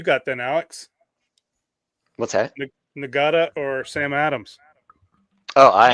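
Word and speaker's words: Ngata: He's pronounced Natada.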